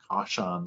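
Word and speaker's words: Kashan: I don't know exactly how to pronounce it. It's a Google font. It's K-A-S-H-A-N script, Caution script.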